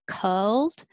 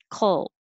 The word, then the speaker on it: colt: think of any vowel it's not culled just hold it in the l position and make noise oh that's it colt 29 success put the